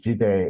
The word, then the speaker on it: Jide: We've also got Jide who wants to contribute as well. Okay. Thank you so much. Hi, my name is Jide. It's actually pronounced Jide.